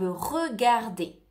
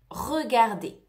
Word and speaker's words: regarde: Te recuerdo de no pronunciar la E al final. Je regarde. No se dice je regarde. Je regarde. Se escucha la D, pero no la E.